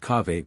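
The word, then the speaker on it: kahve: coffee is derived from the Arabic cawe pronounced cave by the Turks and in its primary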